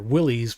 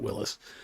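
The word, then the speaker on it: Willys: It's all crammed in together and well Jeep was Willis or Willies but they actually the guy pronounced it Willis.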